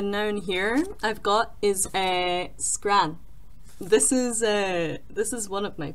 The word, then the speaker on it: scran: Another noun here I've got is scran. This is one of my favorite Scottish words ever. I don't know why, it's just fun to say and you can like roll your R like scran, scran.